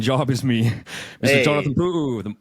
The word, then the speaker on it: Pu'u: Hey, I want to say excellent pronunciation of puoo.